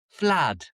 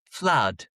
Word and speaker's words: flood: Because in the south of England, they say flood. Flood. So, the ooh the o o becomes an uh flood. Whereas in the north of England, we say flood.